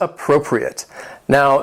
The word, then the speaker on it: appropriate: The word has 4 syllables, and the stress is on that second syllable, appropriate. Now, keep in mind that last syllable, which has that short I sound, appropriate.